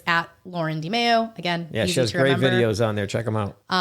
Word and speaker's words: DiMeo: DIMEO. That is so simple. It's super easy. Everyone mispronounces. They go DiMeo. I've had DiMeo. I'm like, what? DiMeo? No, it's DiMeo.